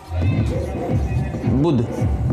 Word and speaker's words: बुद्ध: गौतम बुद्ध ठीक है उच्चारण क्या है बुद्ध ये उच्चारण है ठीक है बुध देखिए लास्ट में ये दो-दो है तो इसका ये यहां भी दो-दो संयुक्त है ठीक है तो देखिए